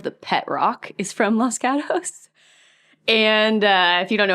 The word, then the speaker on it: Los Gatos: up in is called if you said it in Spanish Los Gatos but we all say it like white people cuz it's in California we say Los Gatos yes that's where I